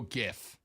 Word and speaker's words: GIF: would make sense but the g in graphic is a hard g ergo gif you know why am